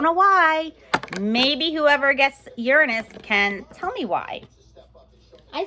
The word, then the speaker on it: Uranus: Not Uranus, Uranus. That is how Bill Nye pronounces it, so that is how I pronounce it.